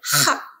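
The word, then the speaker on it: חג: Nah, di sini ada khat dan gimel, bacanya hak, ya, hak.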